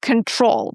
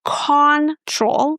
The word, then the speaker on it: control: So in the word control, we stress the second syllable and in the first syllable we have this letter O, but we don't pronounce it as O or aw, we pronounce again the shwa sound. So it's not control, it's con con very short neutral sound.